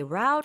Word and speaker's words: route: 그다음에 이 route는 발음이 여러 가지가 있어요. You can say route, you can say route. Well, How do you say route, I say route. Yeah. It's British English, American English. Both are correct.